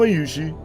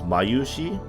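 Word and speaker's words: Mayushii: The only ones who'd be happy are little kids and Mayushi. I'm saying it wrong. I should be saying it as Mayushi, with like a little space at the U and the she.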